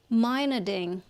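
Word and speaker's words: Meinerding: attributed to to you Ryan Min mining mining Miner ding mining yes and I thought my name was awkward to pronounce and Phil Saunders that one was easy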